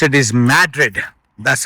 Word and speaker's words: Madrid: The way they pronounce it is Madrid.